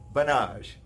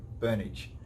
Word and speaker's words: Burnage: You've heard from Banage. What we really pronounce his name Burnage.